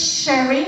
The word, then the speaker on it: Sherry: So yeah, my name is Sherry. People sometimes don't know how to spell that. It's like the drink, S-H-E-R-R-Y.